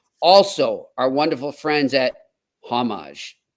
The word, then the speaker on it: Homage: our wonderful friends at homage not homage homage I've been pronouncing it wrong and I apologize to